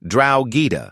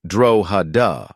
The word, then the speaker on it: Drogheda: The name Drogheda, taken from the Irish town, was consistently mispronounced throughout the series. The cast said Drogheda when the correct Irish pronunciation is Drogheda.